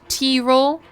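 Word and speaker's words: Tirol: It's pronounced t- roll. T-roll.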